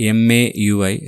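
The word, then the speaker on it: MAUI: be called as uh ma UI so that is the way which I pronounce ma UI so that's the new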